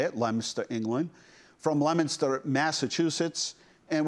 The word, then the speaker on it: Leominster: That's how they say it, Leominster, England.